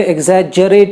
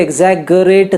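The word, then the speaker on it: exaggerate: Actually double जी के बावजूद इसे एग्जैजरेट ही कहते हैं, इसे एग्जैगरेट नहीं कहते। ठीक है, इट इज़ एग्जैजरेट।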